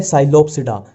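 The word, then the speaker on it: Psilopsida: Pteridophyta में इसमें P silent ही चलता है, जहां भी पी आ गया वहां साइलेंट ही चलेगा। अब देखो ये है साइलोप्सिडा, साइलो और ये साइलो, ठीक है।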